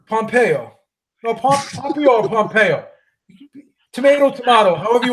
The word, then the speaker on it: Pompeo: Boston she went to my high school that Pompeyo Pompeyo no Pompeo Pompeo tomato tomahto however you want to pronounce it Ellen Ellen Pompeo Ellen Pompeo we